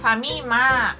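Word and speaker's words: ファミマ: pronuncia Family mato e para facilitar a pronúncia eles acabam encurtando este nome e falam apenas famima outra coisa que a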